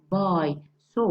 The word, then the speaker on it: buys: We have the vowel sound at the end of the word, the vowel sound, buy. So we pronounce the S as Z, buys.